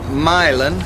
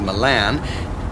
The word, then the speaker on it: Milan: And then from Milan, which parenthetically most people tend to mispronounce as Milan, you would stay on the 250 through Norwalk and...